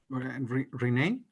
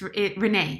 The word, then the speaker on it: Renae: Renee, ¿está bien pronunciado tu nombre? Oh, my name is Renee, yes.